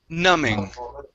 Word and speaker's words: numbing: word numbing okay so this is like thumb okay uh the b is silent numbing all right very nice